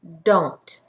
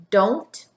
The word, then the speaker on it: don't: here says do but in our contraction we're gonna pronounce the O differently this contraction is pronounced don't can you say don't what two words make